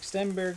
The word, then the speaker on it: Stenberg: legitimate argument to take Stenberg first. Technically, I believe uh you pronounce Sten Stenberg's name and Forsberg, too, like is pronounced uh like Berg is Berra in um Swedish.